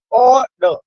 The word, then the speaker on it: order: The correct pronunciation is order. When you say order, so you are emphasizing, you are pressurizing, or what you are emphasizing or pressurizing, or then no.